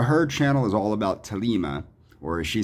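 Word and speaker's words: Thelema: and the h are both pronounced like so thalima is actually pronounced lima lima like uh angela from angela's symposium said she goes it is an ancient greek word and the it is pronounced talima but i will pronounce it like the anglophones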